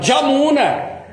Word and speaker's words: Yamuna: O bengali não fala Yamuna, fala Jamuna.